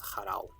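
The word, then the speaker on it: ḫrw: I'm not sure what it's supposed to be representing, but the symbol is the consonants like cha, ra, wa, and reconstructed it's harao.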